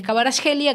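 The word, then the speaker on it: Kvaratskhelia: Ahora es importante saber que él es Cabaraj Gelia, que le dicen así, no voy a pronunciar en georgiano, está claro, pero me parece que es eso.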